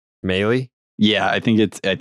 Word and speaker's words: Mahle: Mahle? Yeah, I think it's the first way I just said it, because it apparently rhymes with rally.